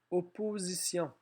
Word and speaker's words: opposition: Opposition. Dans opposition, on a le sion à la fin qui s'écrit T-I-O-N, sauf si c'est mission-pression. On a un S qui fait Z entre deux voyelles.